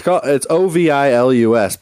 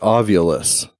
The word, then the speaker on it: Ovilus: So it's Ovilus, but Zach always pronounces it Ovulus.